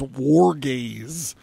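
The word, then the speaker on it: Wargaze: rock band that creates the sound described as war gaze that's I feel like I should spell it w AR g a z e war gaze so check them out check out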